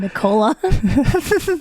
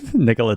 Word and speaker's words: Nikola: You sounded like it's a woman's name, Nicola. Nikola Tesla.